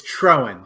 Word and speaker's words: Troen: It's Troen, Troen, but Troen.